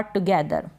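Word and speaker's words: together: target क्या है target target मतलब लक्ष्य और टुगेदर एक साथ टुगेदर एक साथ तो ये टुगेदर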